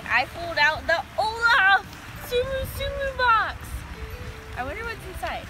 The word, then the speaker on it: Tsum Tsum: Tsum Tsum. And Tsumu Tsumu is how they pronounce it in Japan.